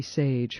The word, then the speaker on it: Sage: You're listening to an interview with Cindy Sage. Her name is spelled S-A-G-E, just like it sounds, of Sage Associates.